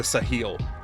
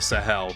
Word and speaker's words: Sahel: you can do it the sahil or the Sahel depending on how you want to pronounce it I actually do know